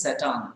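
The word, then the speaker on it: Tsetan: His name is Satan. Okay, you see, T-S-E-T-A-N. Okay, so T is silent here.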